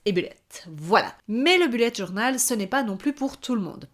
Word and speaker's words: Bullet journal: ai parlé donc du Bullet journal ou bullette journal je sais que certaines personnes le prononcent comme ça si tu ne sais